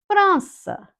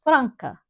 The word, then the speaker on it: França: França. França. Number 6. França. Notice that it has the C with a little cedilha, which is that little comma, for the sound S. Otherwise, it would be pronounced Franca.